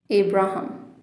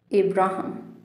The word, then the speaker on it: Abraham: Abraham. Abraham.